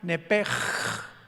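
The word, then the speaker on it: nephesh: Los que quieran apuntarlo, la palabra alma en el hebreo es nepesh, con SH al final, como suena nepesh. Pero la SH en hebreo se pronuncia como J, entonces se pronuncia nepej, como el francés, ¿verdad? Que es gutural, nepej.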